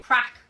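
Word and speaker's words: craic: Crack.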